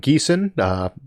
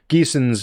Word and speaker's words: Gießen: Pedro Hafferman Least asks, greetings from Gießen. He's got it pronounced there for me.